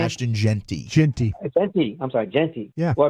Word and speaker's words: Jeanty: Like y'all been talking about this Ashanti. Is that how you pronounce his name? Ashton Genty. Genty.